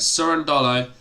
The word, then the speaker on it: Cerundolo: how are you mate it's actually uh surrender so surrender not cur sure okay all right that makes more sense isn't it but it's it's spelt curran dollo all right soren dollo uh so yeah alex